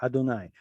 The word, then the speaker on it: Adonai: It's abbreviated, but it's there, Adonai. We're supposed to read the name as Aleph Dalet, as Adonai.